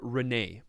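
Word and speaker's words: Renais: on the nation of Renee don't don't pronounce the S it's clearly a not too French yes as one of the twin heirs to the throne of Renee Erica flees her home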